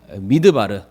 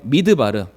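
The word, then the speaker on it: מדבר: 적이 한번 있는 것 같은데 성도님들, 광야가 히브리어로 뭐라고 읽는지 기억하시죠? 광야, 믿습니다. 아실 거라고. 광야. 넘겨주시길 바랍니다. 광야 히브리어로 한번 따라해 보겠습니다. 미드바르. 한 번 더 해볼게요. 미드바르.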